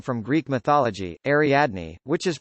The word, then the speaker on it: Ariadne: name from greek mythology ariadne which is pronounced pretty much exactly the way it looks but they told her it was pronounced ardine it still makes my